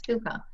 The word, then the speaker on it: hygge: higgy h-y-g-g-e so you think it would be pronounced higgy but it's kuka yeah so it's all about um you know